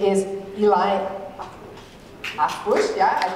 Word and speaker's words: Harfouche: Harfouche, yeah, I pronounce him well.